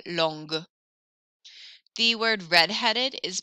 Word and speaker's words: longue: I hear the G sound more, longue.